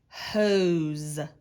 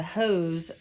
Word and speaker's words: hose: to water my plants this is a bossy e word e is silent which makes o say its name hose even though there's an s it can make that z sound hoes this is a